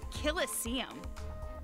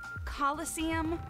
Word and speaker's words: Colosseum: it right there's no such thing as a Killa sium what it's pronounced Colosseum which is an amphitheater made an ancient Rome